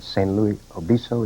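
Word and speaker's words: San Luis Obispo: uh she was uh attending college here in san luis obiso is that how you pronounce it yes sir sam elizabeth and i've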